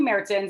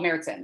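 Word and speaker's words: Märzen: And so we have 2 Marzens. And so really when it first started, it was all Marzens.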